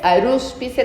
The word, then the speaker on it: Arúspice: Arúspice con acento en la U, Rascacielos.